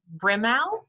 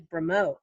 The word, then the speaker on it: Bramo: hi kc no problem actually my last name is bramo so think of it with an o at the end thank you um i